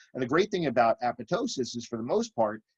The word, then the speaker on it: apoptosis: And there's apoptosis, A-P-O-P-T-O-S-I-S. A lot of people mispronounce this apoptosis, but the second P is actually silent. It's apoptosis.